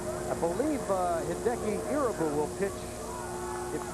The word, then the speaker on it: Irabu: Yes, everyone here in the States has been calling him Irabu, but when his interpreter was asked how is his name correctly pronounced, he said he'd like to hear it Irabu.